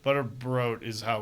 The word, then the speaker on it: Butterbrodt: Butterbrodt is how we pronounce it.